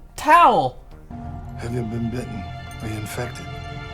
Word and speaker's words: Tao: get tired you say towel did he just say his name was towel it's tau t-a-o oh no explanation his